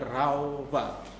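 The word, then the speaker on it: רפה: kata diam di sini bahasa aslinya adalah Rafa atau bacanya raufa artinya diam artinya diam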